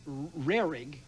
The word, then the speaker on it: Rarig: you told me after our last show that it rhymes with Gehrig, like Lou Gehrig, and is spelled the same way, just with an R on the front.